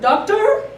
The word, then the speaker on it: doctor: The accent is in a different place, right? My turn. Doctor.